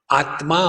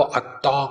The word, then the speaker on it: आत्मा: कंजंग consonant होता है, जोड़ाक्षर, वो ठीक से उच्चारण नहीं कर सकते। जैसे आत्मा होगा तो आत्मा को अत्ता कहेंगे, तत्वमसी होगा तो तप तमसी कहेंगे।